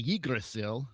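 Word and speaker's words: Yggdrasil: in old norse language it is the uh the yi gracile which is how they pronounced it and uh all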